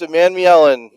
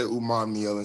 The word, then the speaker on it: Umanmielen: People pronounce the A in there differently. Some people say Umanmielen, some people say Umanmielen.